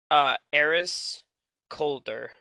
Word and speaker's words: Eris Calder: Eris Calder. Like the air is colder.